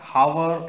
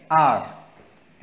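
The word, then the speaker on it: hour: ओ यू आर इसमें जो एच है हम इसको हार या हावर ऐसे नहीं पढ़ेंगे इसको एच को साइलेंट करके हम पढ़ेंगे आर ऐसे ही रोट राइट रोट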